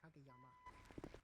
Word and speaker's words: Kageyama: Is that how you pronounce it? It's Kageyama. Kageyama. Yeah, Kageyama.